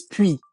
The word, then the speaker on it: puis: sure, not liaison, but just when we're pronouncing the word on its own, the S will be silent, if that makes sense. So it Okay. is puis on its own.